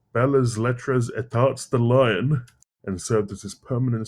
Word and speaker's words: Lyon: It's Lyon, not Lyon. Okay. because that's French. You gotta have that weird accent thing going, you know.